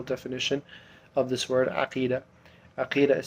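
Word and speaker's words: عقيدة: فاليوم today inshallah we'll do episode 2 of Aqeedah, understanding the term Aqeedah.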